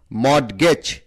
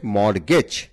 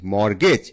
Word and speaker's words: mortgage: মর্টগেজ, এই উচ্চারণটা সঠিক নয়। সঠিক উচ্চারণ হচ্ছে মর্টগেজ। তাহলে MORTGAGE, মর্টগেজ। এখানে টি হচ্ছে সাইলেন্ট ওয়ার্ড।